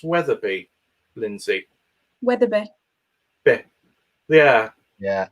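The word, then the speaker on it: Wetherby: lindsay weatherbee yeah yeah because it works in one accent dialect but doesn't necessarily work yeah whether it be whether you know i'm not sure i would imagine most people who live in weather bay wouldn't pronounce it how i do so yeah um yeah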